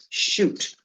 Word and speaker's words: chute: First word on our vocabulary list tonight is shoot. That CH is pronounced like an SH.